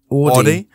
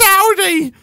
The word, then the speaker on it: Audi: um AI for Audi the people say aie so my mom used to just say it like that interestingly enough and then I was like it's AI when I was a little kid she like no no no threey old Nick it's Audi it's AI mom shut up